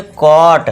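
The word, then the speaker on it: caught: कॉट। अब देखिए यहां पे जो जी एच है ये साइलेंट रहेगा।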